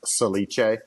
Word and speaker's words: Salice: And it's European, so it's pronounced Salice.